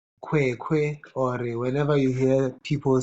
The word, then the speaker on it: Kwei: In Ghana, we have a name in my clan called Kwe. Okay. We have a Mm, name called Kwe, mm. and it's spelled Kwei.